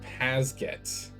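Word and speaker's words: PASGT: And that just meant that, like, pronounced Pasget. Personal armor system for ground troops.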